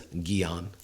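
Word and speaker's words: jñāna: mudra of wisdom and Gyan in the bhagavad-gita although it's spelled j-n-a-n-a sometimes we see it as gion g-y-a-n actually is The Path of Knowledge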